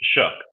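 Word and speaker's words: Shough: It's Shuck. Shuck, right. That's what I thought. It seems weird to say Shuck.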